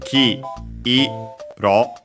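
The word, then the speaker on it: 黄色: Uh by the way, yeah, notice that it's key eo.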